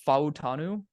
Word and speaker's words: Fautanu: You're going to have to help me pronounce this again. Is it Fautanu?